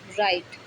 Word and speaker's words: write: जैसे WRITE, राइट। इसके बाद डब्लू के बाद क्या है, आर आया। ठीक है। तो यहाँ क्या, ये राइट बोला जाएगा, डब्लू नहीं पढ़ा जाएगा।